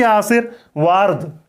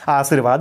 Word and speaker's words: आशीर्वाद: यह नहीं कि आसिर वारद ये नहीं पढ़ेंगे इसको। आशीर्वाद नहीं पढ़ेंगे। उच्चारण यही करेंगे। जहां पर इसको लगा रहे हैं उसके आगे वाले वर्ण के पहले इसका उच्चारण करेंगे।